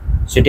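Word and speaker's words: ث: তা সা খেয়াল রাখবেন সা বলার সময় আমাদের জিহ্বার একদম সামনের অংশ উপরের দাঁতের সাথে লাগাতে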